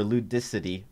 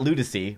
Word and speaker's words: Ludicity: We're going up against Lude City, or Ludicity, I think is how it's pronounced. It's not Ludicy, which I incorrectly thought the first time I saw that, but Ludicity.